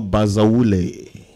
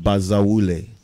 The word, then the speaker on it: Bazawule: Well, my real name is Samuel Bazawule. Yes, and you have to say it like you mean it. Bazawule.